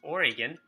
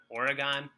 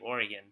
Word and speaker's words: Oregon: the next state is Oregon which I hope I'm pronouncing right I heard you're not supposed to have it rhyme with hexagon so it's not Oregon someone must have told